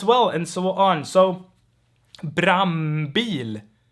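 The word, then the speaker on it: brandbil: de dile all right the d here normally gets dropped and we get brambil and here you can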